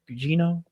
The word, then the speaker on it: Gugino: Gugino?